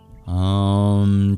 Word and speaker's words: Om: Om Chang Chanda Rudraya Namah. For example, the O's are always long in Sanskrit, as is the A in Rudraya.